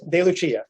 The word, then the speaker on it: DeLucia: she would say it's de lucia the appropriate it's the italian way to say it yes some years ago